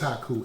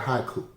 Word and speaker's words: haiku: it with my wife yes haku-ism what is haku what is hakuism honey you should ask haku well it's called haiku a haiku is a japanese form of poetry